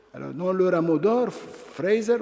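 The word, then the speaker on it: Frazer: Alors, dans Le Rameau d'or, Fraser, ou Fraser si on prononce comme en langue française, nous dit que le cannibalisme, c'est l'appropriation des vertus des morts, n'est-ce pas?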